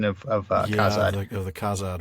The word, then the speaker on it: Khazad: And so basically they take that name and they try to pronounce it in their own sounds, and they come up with something that sounds like Hadad. So the Z turns into that sort of that DH softened the.